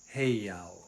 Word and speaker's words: heiau: Heiau. What's a heiau? And that's proper pronunciation for it, by the way. Heiau. In Hawaiian, you kind of run all of the vowels together.